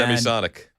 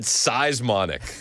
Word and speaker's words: Semisonic: Closing Time yep and Semisonic Semisonic but apparently I shanked the pronunciation I guess of what did I say you said seism monic I have hold on